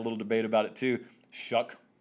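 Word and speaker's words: Shough: debate about it too shuck just ignore the spelling mr shuck was 21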